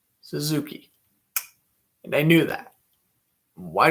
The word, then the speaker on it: Suzuki: suzuki wins the draw i got to say zazewski and i'll break that habit right away it is suzuki and i knew that